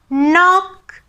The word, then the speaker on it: knock: ඒ කිව්වේ K අකුරයි N අකුරයි එකට යෙදෙනකොට K අකුර අපි ශබ්ද නගන්නේ නැහැ. pronounce කරන්නේ නැහැ. අපි උදාහරණ ටිකක් බලමු. no, knife, knee, knock.